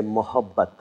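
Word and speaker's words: मोहब्बत: And if you feel being a little more generous and a little more gentle, then you say mohabbat.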